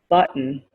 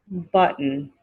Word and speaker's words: button: the next word is button button okay we don't say button okay maybe the british say button but we say in america we say button button you're missing a button